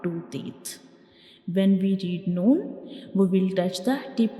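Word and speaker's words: ن: And the sound of noon comes from the nose, like noon, noon.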